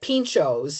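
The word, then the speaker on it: pintxos: But is the x you It's a ch. It's a ch. That's what I thought. Yeah. Yeah. Cuz um like like we get pinchos.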